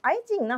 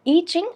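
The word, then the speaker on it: I Ching: ஸோ ஈச்சிங் ஐச்சிங் இது வந்து எப்படினாலும் நம்ம ப்ரொனவுன்ஸ் பண்ணலாம். ஏன்னா அந்த ஊரில் வந்து பார்த்தீங்கன்னா சைனாவில் இது வந்து ஈச்சிங் அப்படின்னு தான் சொல்லுவாங்க. இங்கே வந்து நம்ம ஐச்சிங்னும் இது வந்து நம்ம சொல்லுவோம். ஏன்னா ஐ வந்து இது ஐ போட்டு சிங்குன்னு எழுதியிருக்கும்.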